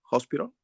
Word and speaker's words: hospital: Hospital? Oh, because when we have hospital, the H is not silent.